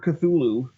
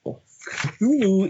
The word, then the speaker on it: Cthulhu: To start with the word Cthulhu, here's the deal. Cthulhu is a weird construction that explicitly was designed that humans cannot pronounce it.